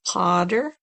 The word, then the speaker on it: Qadr: in the transliteration is the first letter is a Q, and that's like a K sound, but it's a little bit further back in the mouth. So Qadr, Q-A-D-R is how that's pronounced, Qadr.